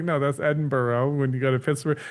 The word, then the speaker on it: Edinburgh: So we went up to what I used to call Edinburg cuz my family's all from the Pittsburgh area, you know, and all her family's just ragging on me. They're like, "It's not Edinburg, it's Edinburgh. It's Edinburgh."